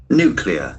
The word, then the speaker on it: nuclear: Nuclear. It will act as adjective. Nuclear. There are two syllables. Aent for the first syllable.